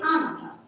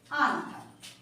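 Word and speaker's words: Agnatha: আমরা বলি, প্রোনাউন্সিয়েট করি আনাথা, আমরা প্রোনাউন্সিয়েট করি আনাথা।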